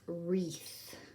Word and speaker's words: wreath: picture that we're using to represent this is wreath and as you can hear all we hear